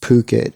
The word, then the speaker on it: Phuket: I think it's pronounced Phuket, Phuket, which is right here.